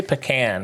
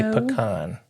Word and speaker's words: pecan: And we don't say pecan here f by the way. we say pecan. Although the pecan growers association does recognize that there can be different pronunciations, they sort of are asking people to say pecan.